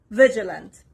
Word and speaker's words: vigilant: the next word is vigilant Vigilant the S is on the first part on the letter V